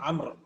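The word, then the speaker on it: عمرو: summer then we have the proper name Amer Imran is written with a Wow which is not pronounce camera which is not canal so this is bow is not wrong this is done to differentiate it from Omar this is done to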